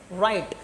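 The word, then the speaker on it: write: डब्ल्यू को silent करना है।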